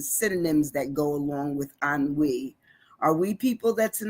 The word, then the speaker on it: ennui: today our word is an we it's like it's it's sounds like a n- we but it's spelled e n n UI an we so that's